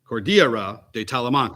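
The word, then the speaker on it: Cordillera de Talamanca: the Cordillera tala Morocco let me let me pronounce that properly Court Cordia Cordia cordira de talamanca at that time in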